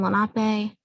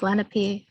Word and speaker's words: Lenape: people um sometimes have misconceptions on how it's pronounced but it's one eye with a long eye and then lanape um people sometimes try to suggest a lake lenape um but that's again a different pronunciation that's